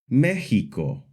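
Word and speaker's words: México: the more common ks sound like in the word examin, the s sound like in the word, and the soft h sound like in the word Mexico.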